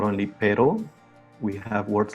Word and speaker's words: pero: software um rolling like when we say for example pero so as you can see as you can hear we are not saying raw because in that case we would be saying the word doc in spanish so there we recognize the difference between a longer role perro and the very very short uh rolling of the r which is perro so this r is